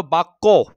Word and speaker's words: বাক্য: আবার ধরো বাক্য, বাক্য, বাক্য।